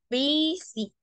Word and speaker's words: busy: Entonces, como podemos ver, John is, esta palabra que se escribe busy, me da demasiada risa, se escribe busy, pero se pronuncia busy, busy.